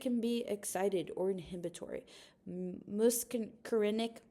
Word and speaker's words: muscarinic: Muscarinic, muscarinic, muscrenic. It reminds me of music just how you say it.